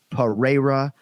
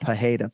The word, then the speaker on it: Pereira: out of your minds right Alex data or Pereira but not pajeda please no h 100 and you pronounce it beautifully during the flight but uh